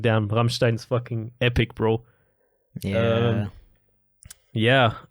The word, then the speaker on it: Rammstein: so fucking much and just being like damn ramstein's fucking epic bro yeah yeah uh so that was a big one hamstein I still listen to them they're pretty epic by the way it's pronounced Ramstein not Ramstein please please guys okay and uh